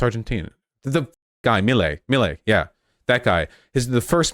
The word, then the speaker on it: Milei: Chile rhymes with Milei.